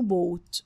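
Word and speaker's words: bought: يعني يشتري الماضي منه بوت ولو تلاحظوا هنا ان كلمه بوت الجي اتش فيها سايلنت لا تنطق باي بوت باي بوت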